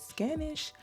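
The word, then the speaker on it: Ganush: I didn't realize I mispronounced this character's name. Her name is Miss Scannanish and I was calling her by a totally different name.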